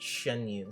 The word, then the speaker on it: Xianyun: It's pronounced Xianyun.